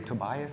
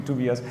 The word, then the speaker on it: Tobias: Well, my name is Tobias, or as the Americans say, Tobias. So Tobias always sounds like 2 cold beverages, so I try to avoid this. But the German pronunciation would be Tobias.